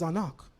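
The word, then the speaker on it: אנך: we so brilliant well don't say an it says anak but when you understand Linguistics and how phonetics work you understand that the phonetics are there ah n k an they're not going to say it exactly like you because they don't belong to your language family but they're describing the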